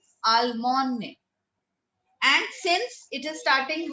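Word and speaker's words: Allemagne: Germany is called Almone. This G is silent. We don't speak out the G. It is called Almone. Almone.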